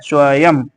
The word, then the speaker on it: स्वयं: में प्रयुक्त होते हैं, अंतिम अनुस्वार का उच्चारण म के समान होता है, जैसे एवं एवं, ये पढ़ने में म जैसा आ रहा है। स्वयं स्वयं पढ़ने में स्वयं ऐसे पढ़ने में आएगा।